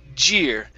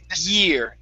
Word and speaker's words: year: So what you're saying is j. You're starting off with a j sound instead of e. So instead of a j, instead of a y sound, think of an e.